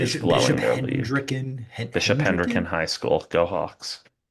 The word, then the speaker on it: Hendricken: Like I was a very different person as a kid, but still, by the way, Dallas is Bishop Hendricken High School.